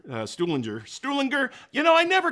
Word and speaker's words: Stuhlinger: how to pronounce it i say i say stu linger yeah that's kind of that's